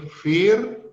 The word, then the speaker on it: vier: Sedangkan di sini vier itu IE dibacanya secara panjang saja vokalnya, jadi vier.